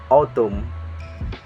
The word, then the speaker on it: autumn: So example like this: damn, autumn, hymn, and column.